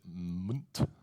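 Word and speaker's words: Mwnt: It's called, you pronounce it Munt, right?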